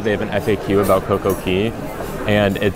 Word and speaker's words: CocoCay: have an FAQ about CoCo Key and it says there that it is pronounced key like a key to open a door yeah so I guess